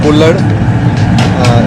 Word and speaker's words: kulhad: This is what is known as the Kullad. It's spelled Kulhad, and it's made of, it's an earthen pot, and the best thing is it's biodegradable.